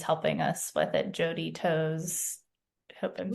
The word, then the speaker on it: Toews: But the woman who's helping us with it, Jody Toes, hope I'm saying it right. Toes. I love that name. Tows. It's TOEWS. But So she's been amazing helping us kind don't of.